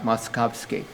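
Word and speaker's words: Moszkowski: most successful in germany muskowski i better spell that to you for mos z kows moskowski now the the much more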